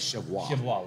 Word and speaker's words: Cheviot: You have to say it right, Cheviot.